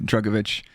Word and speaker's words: Drugovich: so apologies to everyone out there but felipe drugovich i think that's that sounds chat that sounds good yeah tick yeah it's it's good drugovich yeah yeah we'll do that we'll go uh